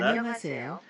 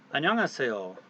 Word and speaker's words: 안녕하세요: When it's in this first position over here, it's silent.